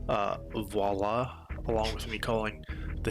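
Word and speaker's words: voilà: Lastly, I may have mispronounced voila, along with me calling the hillside Yeah, I said viola at some point. I still do. Sometimes I'll say viola instead of voila, because that's just how my brain reads it.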